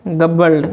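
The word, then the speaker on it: gobbled: और इसको क्या पढ़ते हैं, इसको पढ़ते हैं गबल्ड, क्या पढ़ते हैं, गबल्ड, ग आधा ब ल ड, गबल्ड, है ना।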